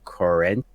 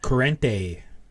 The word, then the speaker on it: Corrente: we've seen before Severino current they probably butchered that corrente it's Italiano vs.